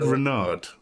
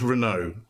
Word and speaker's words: Renaud: to get this wrong I said Renard is that right it's just Renault okay so I'm wrong